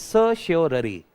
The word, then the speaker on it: certiorari: It is certiorari. This is how pronunciation, certiorari.